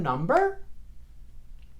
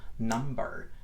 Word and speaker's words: number: What's your phone number? One more time. What's your phone number? Esa pronunciación en la palabra number, right? First of all, explosive B, la B explosiva.